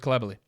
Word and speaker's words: Coulibaly: Is it Coulibaly? Because I know you'll hear him pronounced as Coulibaly, but I watched a French game, well, obviously he plays in France, and the French announcers called him Coulibaly. So I'll go with Coulibaly.